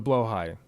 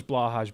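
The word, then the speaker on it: Blåhaj: Blaha yet or the blo high some of you know as blahaj because that's how it's spelled but it's pronounced blo High uh because I did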